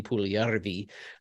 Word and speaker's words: Puljujarvi: So let's talk a little bit about the Jesse Pujujarvi trade, or as he pronounced his name when he was meeting with Carolina media today, Jesse Pujujarvi. He was trying to pronounce